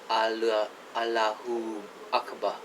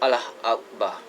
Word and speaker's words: Allahu Akbar: I'm not joking around, I think that's how they say it in the Middle East. In Malaysia, it's called Allah Akbar. There's no U in between the Allah and the Akbar.